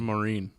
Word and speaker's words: Maureen: Like Lesreen or Maureen? Maureen. Yeah, there you go.